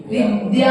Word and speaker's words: विद्या: आचार्य भगवान के नाम में आधा दा और या है, पूरा या, और आप लोग बोलते क्या हो? विद्या। कई बार कई लोग को उच्चारण में धा धनुष को उच्चारण आता है, वहां पर धा धनुष का नहीं है, वहां पर आधा दा और पूरा बड़े आ से सहित या है, इसलिए वहां पर विद्या क्या आएगा? विद्या।